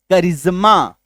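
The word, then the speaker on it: charisma: करिश्मा, CH आया, फिर AR आया, फिर एक देखो वॉवेल आया I। तो कैरिज्मेटिक, कैरिज्मेटिक, करिश्माई, ठीक है, क्लियर है।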